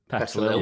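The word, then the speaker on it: Petilil: Petalil. Is it Petalil? Is that how you say it? Petalil, yeah.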